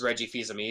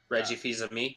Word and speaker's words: Fils-Aimé: that he was taking over, and he is almost as good of a shit poster as Reggie Fils-Aimé.